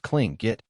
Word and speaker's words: Tlingit: first nation's man who had Tlingit pronounced cling get blood in him he